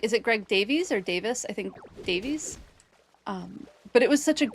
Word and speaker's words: Davies: Davis in pronunciation, Davies in spelling.